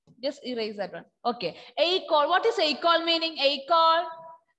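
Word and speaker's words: école: With laxo aigu, you can see with letter E, and the sound pronunciation will be A.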